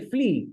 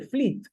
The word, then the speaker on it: Flit: O chele FL bueno que muchos se creen que en realidad es echale fit como si fuera pronunciado como f e e no algo así pero en realidad es echale flit que hace referencia a este insecticida del momento no el